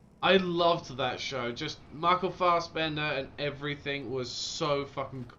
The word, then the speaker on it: Michael Fassbender: Yeah, Michael Fassbender.